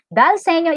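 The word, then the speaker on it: dal segno: Dalsenyo stands for an Italian phrase Ang pagkaka-pronounce daw dyan ay Dalsenyo. Senyo.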